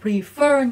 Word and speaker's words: prefer: từ prefer đúng không động từ thì là prefer nhấn âm hai nhưng danh từ thì các em sẽ đọc là preference đó khác biệt chưa đ động từ thì nhấn âm hai nhưng danh từ thì lại nhấn âm 1 preference nhấn âm 1 còn lại thì sẽ